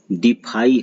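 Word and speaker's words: defy: कितने लोग डेफी पढ़ देते हैं? बिल्कुल नहीं, डिफाई है यह, डिफाई, यह है डिफाई, DEFI, डिफाई।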